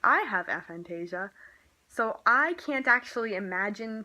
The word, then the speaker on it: aphantasia: would like to talk about a thing called aphantasia, also known as aphantasia. I guess that's British people, because British people are just so weird with their pronunciations. And okay, so aphantasia is how I'm gonna do it.